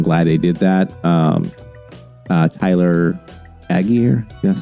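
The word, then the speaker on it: Allgeier: Tyler Aguirre, that's how you pronounce his name, ran really well, 17 for 139 yards.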